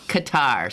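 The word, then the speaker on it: catarrh: i was saying okay there you go again katar spell it c-a-t-a-r-r-h i think that's right it's so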